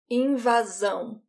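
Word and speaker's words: invasão: invas zone in vazzo when the ass is one s in between two vowels it sounds like a z in vason so here's a sentence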